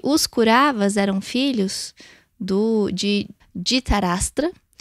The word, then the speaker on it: Dhritarashtra: E se conta que os Kauravas eram filhos de Dhritarashtra, pronunciado mais ou menos assim, e ele era um rei cego.